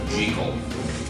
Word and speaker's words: Jekyll: role as Jekyll and Hyde, or I say Jekyll, because the author Robert Louis Stevenson always insisted that the character's name is pronounced Jekyll.